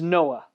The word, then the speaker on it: Noah: rest in hebrews and noah's name is noah right it's one another one of those uh if you have like a cold just say his name and it'll clear your throat right out you'll be good just